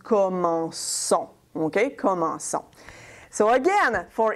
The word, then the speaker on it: commençons: But again, if in the new form you write something like that, that's going to be pronounced comment con, okay? It doesn't sound very good. The verb is commencer. So if we want to keep the same sound, we're going to do this. We're going to make it a cédille. So this way, it's going to be pronounced commençons.